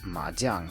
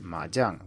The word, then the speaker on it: 麻将: the Chinese speaking World which is madang or Majong or however you want to pronounce it in English this is a podcast for Learners of Chinese so I'm going to stick with majang which is the pronunciation in Mandarin one of the most